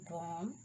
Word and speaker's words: bomb: the B is silent, the letter B is usually not pronounced after M. Do you remember that? At the end of a word, like comb, bomb, thumb, climb, thumb, tom, crumb, and lamb. See, there is no sound of B in these words.